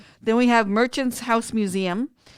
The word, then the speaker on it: Mmuseumm: These are cool museums. Sorry. Then we have the museum, and it's spelled MMUSEUMM. Okay.